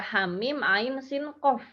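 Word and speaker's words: حم عسق: Nah, di sini haknya 2 harokat, mimnya 6 harokat, ainnya 6 harokat, sinnya 6 harokat, qafnya 6 harokat. Semuanya panjang ya kecuali hak.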